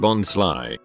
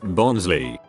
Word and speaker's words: Bonsly: And its pre-evolution Bonsly, pronounced Bonsly, not Bonsley, is named as such because it is based on a bonsai tree, but it isn't one, so it's being sly.